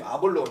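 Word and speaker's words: Ἀπολλύων: 이렇게 헬러어 발음은 아폴로온인데 아볼로온 좋습니다.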